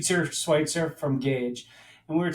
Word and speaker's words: Schweitzer: We've been saying his name wrong for years, apparently, Jason. It's Schweitzer from Gage.